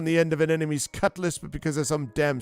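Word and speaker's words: cutlass: I want to die on the end of an enemy's cutless. You know, a sword that cuts less. Not a cut lass, which is how you actually spell it.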